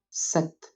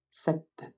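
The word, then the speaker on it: sept: 7. There is no real rule here, but the P is muted. And although there's no vowel after the T at the end of the word, we still pronounce 7.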